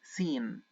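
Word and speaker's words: سين: next letter which is scen scen scen and it's equivalent to the letter S as well as to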